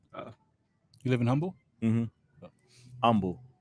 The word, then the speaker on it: Humble: every time i say humble they make sure i say nah it the h is silent punk like fixing that you live there yeah i live in humble uh you live in humble humble humble there you go